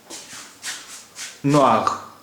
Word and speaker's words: noir: اس لیے اس کا تلفظ بھی گریز ہے, اس کا تلفظ بھی گریز ہے. نوار یعنی کالا, نوار, NOIR, نوار.